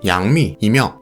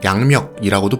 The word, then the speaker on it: 杨幂: 양미라는 이름은 양미의 중국식 발음 양미이며 한국에서는 한자음을 그대로 읽어 양멱이라고도 불립니다.